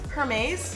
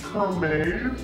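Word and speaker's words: Hermès: Hermes. Hermes. Hermes. Her what? Wait, wait, wait, wait. A hermes. Like her mayonnaise. Like I'm confused. No, that's not it.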